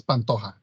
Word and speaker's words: Pantoja: Is it Pantoja? It's Pantoja. Pantoja. Okay. Yeah, there you go.